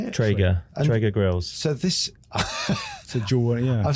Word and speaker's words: Traeger: Traeger.